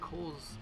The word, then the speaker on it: Cowles: at the front desk told me that it's pronounced by PI and Cole's Mountain so I apologize for